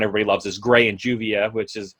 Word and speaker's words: Juvia: loves is Gray and Juvia, Uvia. Is how you're really supposed to say her name, and she loves him, but he's like you'll find out what a Sundare's Zumbi's like.